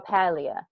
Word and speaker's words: Paglia: to this lady Camille Paglia. I don't know if you ever heard of her. Or Paleia P. Her name is spelled Paglia, but it's Italian, so it's said differently.